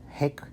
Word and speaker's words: hake: out is that technically the correct pronunciation of Hake is Hake, like almost like hockey. But because so many people have pronounced it Hake, I've just adapted and gone with that.